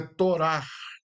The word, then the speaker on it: Torá: Eh, geralmente o hebraico, irmãos, toda letra H, a letra H, ela tem uma pronúncia de R, por isso que é torar, que é aquele R meio exprimido, meio imprensado. Então, eh, quando os irmãos observar uma escrita hebraica, que o H ele tá eh encaixado no meio, geralmente sozinho ou acompanhado do C, você vai ter essa pronúncia de um R, vamos dizer assim, um R fechado. Por isso que é Torar. A palavra hebraica Torá indica